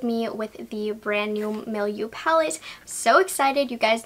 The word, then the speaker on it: milieu: neutral mattes milieu palette I had to look up how to pronounce it no you milieu so if you're interested